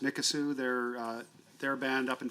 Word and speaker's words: Mikisew: It's pronounced Mikisew.